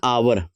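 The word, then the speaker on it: hour: Also, लेकिन आपको यह ध्यान रखना है, एन आवर, एच इज not pronounced, H is silenced, H बोलते नहीं है, एन आवर या आर बोलते हैं।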